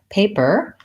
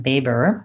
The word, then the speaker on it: paper: you might for example on the word paper you might be fully using bees it might sound like Baber because there's no P sound in arabic so getting used to